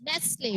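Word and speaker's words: Nestlé: Yes, Nestle. What is the brand name? Nestle. T is silent.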